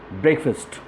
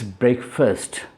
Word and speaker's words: breakfast: one is of course breakfast and you have heard people saying break fast since it is f I s T they say fast it's actually not fast it's break first right not break fast at the same time